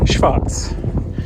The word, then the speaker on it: schwarz: So, first of all, in German, black is schwarz.